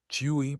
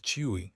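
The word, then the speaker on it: 吹: Chui, pronounced like chwi with a forceful exhale, which is associated with the kidneys.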